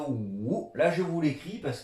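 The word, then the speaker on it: 五: il se prononce ou. Là, je vous l'écris parce qu'il y a une histoire par rapport à 5, ou, troisième ton.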